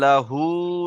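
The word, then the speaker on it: لَّهُۥ: ওয়ালাম ইয়াকুল লাহু, এই হুটা টান আছে, হা উল্টা পেশ হু, এটা ওয়াও মাদ্দার সমান, এটা কালিফ টান হবে, ঠিক আছে?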